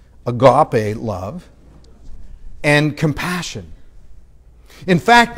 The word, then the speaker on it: agape: called love agape love or louis agape love as you recommend we pronounce it in the south agape love and compassion in